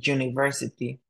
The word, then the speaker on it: university: we use n but when the letter u sounds like G you for example in University we have to use the word a a university instead of an University because it doesn't make sense if we said an University okay now when there